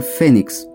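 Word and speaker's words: Phoenix: idioma fenicio Fénix pero se escribe p h o n i x y se pronuncia al español Fénix y en idioma griego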